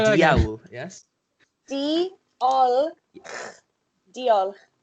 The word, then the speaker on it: diolch: Like deal, as in like. Like D-double-E. This isn't how you spell it. I'm doing it so you can, understand. D-double-E-O-L and then C-H. But that C-H is the noise.